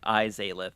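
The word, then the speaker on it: Izalith: You had the second part right initially. You just pronounced the the I wrong. So it's like I zith.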